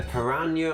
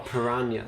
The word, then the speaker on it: piranha: A piranha or piranha, so it's pronounced two ways.